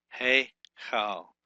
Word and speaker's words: Heichal: Hey Chal, or Hey Chal. That's how you pronunciate that.